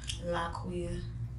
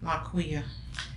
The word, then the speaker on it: Liquiya: How you pronounce that? Liquiya. Liquiya. Just like it sounds. Like it spells.